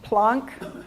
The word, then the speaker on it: Planck: using the word plots plonk p-l-a-n-k and it's it's from max planck the german guy that discovered them so it's it's pronounced plonk but it's spelled like planck planck is max planck